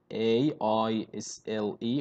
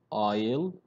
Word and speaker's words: aisle: Okay, this one, A-I-S-L-E. What does it mean? How to read it? Yeah, aisle, aisle. We have the letter S here is silent. So it's aisle.